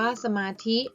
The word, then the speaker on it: สมาธิ: อย่า ลืม สังเกต นะ เขียน เหมือน กัน แต่ อ่าน ออก เสียง และ ความ หมาย นั้น ก็ แตก ต่าง กัน แบบ นี้ คือ